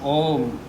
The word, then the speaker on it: ओम: इसके बाद में ओम का उच्चारण करना है। एम ओ, देखिए ओम ओम ओम, ए उ मा से ओम बनता है।